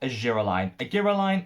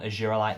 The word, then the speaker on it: Argireline: First and foremost, let's talk argireline. Argireline, different pronunciation depending where in the world you live, but this is phenomenal.